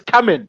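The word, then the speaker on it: Caoimhín: I think it's Kamin, like came on.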